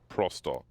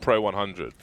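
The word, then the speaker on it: Pro100: The team Pro 100 is pronounced Prosto in Russian. Yeah. Really? It's not Pro 100. So, or 100 is like Sto or something like that in Russian. So the team name is Prosto.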